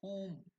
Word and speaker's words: hum: into the detail hum it's not H it is whom h u h o o o m or hu elongated M pronounced as whom is one of the